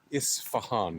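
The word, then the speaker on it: Isfahan: amount of times I've heard people mispronounce that in the last week is frankly hilarious. And it's mostly been people on the alt-right, but some on the left too, to be fair. Is Fahan. It's not that hard.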